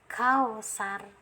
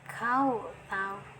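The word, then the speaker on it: الْكَوْثَرَ: Nah, jangan dibaca kausar, jangan ya, tapi harus ditebalkan kau tahu.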